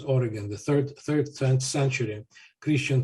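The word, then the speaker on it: Origen: hell altogether for example oregon um or origin in greek his name is pronounced as oregon the third third century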